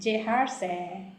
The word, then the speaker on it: Jeharsae: Okay, so Jeharsae, is that how pronounce it? Yeah, it's Jeharsae.